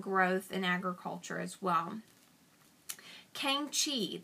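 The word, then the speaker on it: Kangxi: in agriculture as well Kang Chi that is k-a-n-g-x-i so kangshi was an emperor who worked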